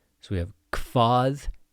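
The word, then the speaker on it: hvað: Hvat heitir þú? Hvat heitir þú? Important things with pronunciation here. hv sounds like a kv.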